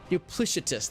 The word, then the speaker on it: duplicitous: combat soft C dupli dup dup duplicitous there we go we got there we got the duplicitous with a soft SE thank you yeah yeah